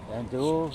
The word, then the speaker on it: andouille: Andouille.